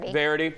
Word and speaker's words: Verity: Verity, is I'm pronouncing that right? Verity.